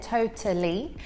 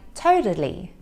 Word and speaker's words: totally: hear that t there totally however in american english they would use the american t which sounds more like a soft d so it would sound more like totally in british english we